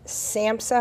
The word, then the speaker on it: SAMHSA: But now, Kathryn, you are the regional administrator, again, of SAMHSA. Am I saying that correctly? You are saying it correctly.